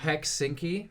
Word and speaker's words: Helsinki: Maybe it's not pronounced like that. Helsinki.